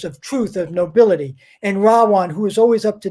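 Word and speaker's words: Ravana: bad guy and his name his name is rawan r v in sanskrit is pronounced as a w r-a-b-a-n-a one silent day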